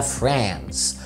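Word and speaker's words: France: اول دولة معانا هي فرنسا. فرنسا بالانجليزي مش فرنش. فرنش فرنش دي الجنسية اسمها فرانس فرانس فرانس، انما الجنسيه واحد فرنساوي او اللغه الفرنسيه فرنش فرنش.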